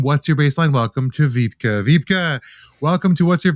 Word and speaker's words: Wiebke: Wiebke, it's a very northern German name, so no worries if you don't pronounce it.